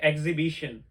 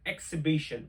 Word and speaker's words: exhibition: We always say exhibition, but this is not exhibition. This is exhibition.